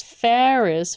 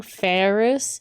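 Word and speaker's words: Faris: it to you um she is ferrous with an a but um uh what's her name uh mayuri has trouble pronouncing ferrous so she calls calls her ferrous with the e that's why i i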